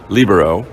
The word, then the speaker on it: libero: And there the accent is on the first syllable, lib. So that's why the world calls it libero.